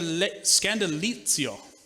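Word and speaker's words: σκάνδαλον: with a definition and a pronunciation of a Greek word that I didn't butcher in the first service but it will sound more Italian the more I say it Scandal scandalo see little Lio right that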